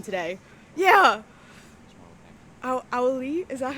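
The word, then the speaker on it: Auliʻi: As somebody who, Owl-E-E. Okay, thank you, Carly. I'm very bad with pronouncing names.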